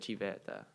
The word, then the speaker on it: civetta: So like we would see like, oh, here's a little glass Savetta. And we'd be like, yay, that's me. Except they pronounce it Civetta.